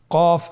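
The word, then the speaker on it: ق: এই হরফটি কিন্তু আপনার মোটা অক্ষর, মোটা হরফ। বলার সময়, উচ্চারণ করার সময় অবশ্যই মোটা করে পড়তে হবে।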